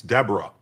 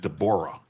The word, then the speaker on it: Deborah: Maryland US District Judge Dborah Borman, and you might think it's Deborah, but she pronounces it Dborah.